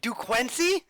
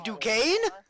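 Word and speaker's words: Duquesne: correctly he was like du queny the first time he said it I was like who he was like d quency I'm like you mean duee folks no they're not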